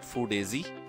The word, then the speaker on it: FoodAZ: So about the business, the business name is FoodAZ, and that's the way we pronounce it, FoodAZ.